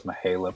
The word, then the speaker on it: Mahala: My sister's middle name is Mahala, pronounced like Michaela, but with an H.